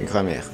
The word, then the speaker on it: grammaire: Así se pronuncia, grammaire.